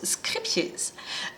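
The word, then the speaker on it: Scheepjes: l'info, si vous avez raté l'épisode, ça se prononce Scrippies.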